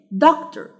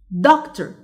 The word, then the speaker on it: doctor: doctor. doctor. The stressed syllable is duct.